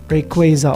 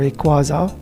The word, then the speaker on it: Rayquaza: To those who don't know, um, my top five favorite Pokemon are obviously Psyduck, Shelgon, Mudsdale, Rayquaza, or Rayquaza, which, however you want to pronounce it, and sometimes it fluctuates between Snorlax